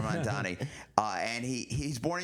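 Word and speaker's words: Mamdani: I have met Zoron Mandavi and uh Mandani. I'm sorry. I don't want to say it like Cuomo. Zoran Mandani.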